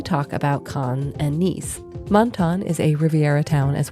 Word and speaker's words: Menton: So we're here to talk about Menton, France, which is apparently the appropriately French way to pronounce it.